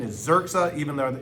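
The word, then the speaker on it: Yrxa: Remember those Urexa?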